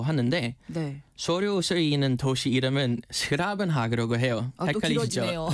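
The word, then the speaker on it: 's-Gravenhage: 그는 영우식 이름인데 네덜란도로는 덴하그라고 하는데네 소료는 도시 이름은 스라은하라고 해요. 헷갈리시죠? 예. 헷갈리시죠? 아마 발음이 좀 어려워서 그렇게 된 거 같아요.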